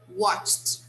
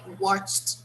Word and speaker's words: watched: they are regular verbs i have to use the sound of t in the pronunciation sorry guys okay so